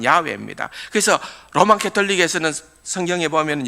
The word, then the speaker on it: 야훼: 여러분, 우리말로 번역된 여호와라는 단어, 옛날에도 하나님의 이름 할 때 설명을 했습니다마는, 그 자음으로서는 그냥 야훼라는 단어, 야훼, 발음하자면 야훼입니다.